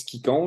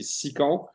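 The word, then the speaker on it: Scicon: Il y en a qui prononcent Skicon, là, mais c'est Sicon.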